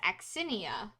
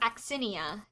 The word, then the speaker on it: Aksinia: Her name is Axinia. I can spell that for you guys if you want. It's Aksinia. Can you repeat that? Axinia.